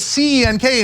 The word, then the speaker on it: Cenk: If you have a name that's C-E-N-K and the C is pronounced like a J, it's your job to tell people, hey, that's Cenk.